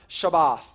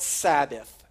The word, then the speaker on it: Shabbat: to his people now the term translated rest is the term shabbat shabbat and that that is a word that we kind of pronounce a little bit differently we call it sabbath we pronounce it sabbath and what the word